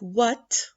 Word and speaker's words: what: Let us move to the silent H, like what, honest, white, and Hour.